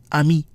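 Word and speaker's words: ami: go over another exception when a vowel is followed by N or M and another vowel the sound produced is not nasal an example is the word for friend I me although a and M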